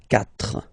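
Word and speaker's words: quatre: So you get this Q-U-A, but then the sound that you will pronounce is K, okay? 4, 4.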